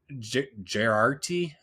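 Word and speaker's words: Geraghty: Renner, Mackie, and even Gerarty. I don't know how to say his last name, but he is Owen Garrity. Eldridge. Garrity.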